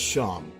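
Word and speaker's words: Seam: The name's Sham, pronounced Sham.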